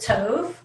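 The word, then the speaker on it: טוב: and said it's good i pronounce it tov and therefore it's good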